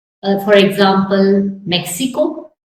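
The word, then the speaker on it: México: uh for for example Mexico it can be like English H me Meo Y is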